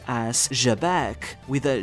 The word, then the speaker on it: Xebec: So, keep in mind, it's not pronounced or shabbec, but with a softer J like in French, though, the pronunciation of Sheabek isn't too far from it if you prefer that.